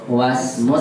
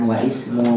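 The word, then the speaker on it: واسم: Yang dibacanya wasmu bukan wa ismu karena di tengah.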